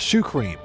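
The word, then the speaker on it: シュークリーム: It's what's called shoe cream, and that's just the pronunciation of it.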